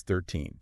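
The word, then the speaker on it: thirteen: 15, and so on, the rule is pretty consistent. You stress the second syllable. The end part, the teen. Exactly. So it's 13. 13, okay.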